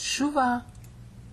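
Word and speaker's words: שׁוּבָה: And it's pronounced shuva.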